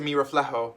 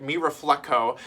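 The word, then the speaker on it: Mi Reflejo: uh number one uh when i reacted to mira fleho and i'm saying it right now when i made that video i was like me reflecto me reflecto and i was like sal there's no c in there pal you gotta you gotta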